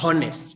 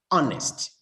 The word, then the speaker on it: honest: other one is honest we don't say honest but we say honest is a vowel sound honest dishonest now martha